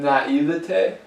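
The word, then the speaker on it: naïveté: it's a correct pronunciation. Naivete?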